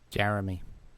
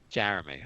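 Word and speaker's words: Jerami: Grant's brother Jan Grant brother how do you pronounce that Jay Jeremy Jeremy okay wasn't even close uh what do you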